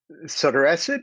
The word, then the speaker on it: sotorasib: So sotorasib, you pronounced it correctly.